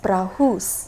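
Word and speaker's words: πραΰς: It's spelled as P-R-A-U-S, prahus.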